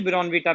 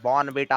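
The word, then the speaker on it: Bournvita: देखो ऐसा ना बोले, वो भी ब्रॉनविटा पीता है, यह जैक पाइपर ब्रॉन तो नहीं बेटा पीता ना। नहीं, बॉर्न बेटा होता है।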